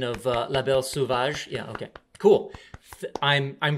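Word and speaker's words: La Belle Sauvage: the type of the book okay yes my pronunciation of uh La Belle suvage yeah okay cool I'm I'm glad thank you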